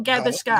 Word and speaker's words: Gavaskar: Test cricket expansion, and then border got Oh, I'm gonna mess it Gavaskar. up. Gavaskar trophy. Gavaskar Earth. trophy. Gavaskar. Aftermath. How do you say it, Nat? Gavaskar or Gavaskar?